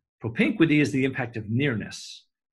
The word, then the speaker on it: propinquity: you create one is around a term called propinquity hope in 20 I'll spell it PR o p IM q you i t why propene quick t propinquity is the impact of nearness geographical psychological nearness